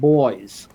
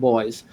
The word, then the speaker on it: Boies: And then Judge Posner now, there's a very highly recognized attorney in the United States, David Boies, B-O-I-S-E, I believe is how you pronounce his last name.